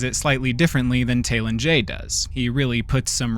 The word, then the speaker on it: Talen-Jei: Even earlier in this video, you might have caught that I said Talen-Jei while Brynjolf said Talen-Jei.